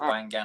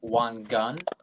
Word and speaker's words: Wangan: Well, to be fair, there's multiple ways of pronouncing it. People pronounce it Wangan like you do, but it's pronounced Wangan. So you weren't far off.